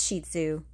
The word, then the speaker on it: Shih Tzu: They originated in Tibet, and the correct pronunciation of their name is Shih Tzu, which translates to little lion in Mandarin.